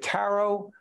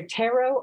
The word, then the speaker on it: tarot: the word is it Tarot what is the proper correct pronunciation you can say it either way it's either tarot or tarot it's like either or either Steve potato potato I